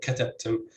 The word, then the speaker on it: katabtum: So we say darastum and we say katabtum, both have stress on the first syllable in the word.